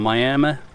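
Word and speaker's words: Miami: Federal Highway project number8 running 15.46 miles from miam to afon It's pronounced miam I found that out the only remaining nine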